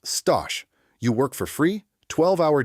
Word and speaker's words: stage: Before you get a paid job, there is the stage, pronounced stosh.